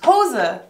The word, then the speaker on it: Hose: garden one more time it's two syllables hoser yes later hoses lena